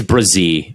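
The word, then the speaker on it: Bresee: bench What about Brian bercy he's am I pronouncing that right is it it's Brazil yeah like a z Brian Brazil like Brazil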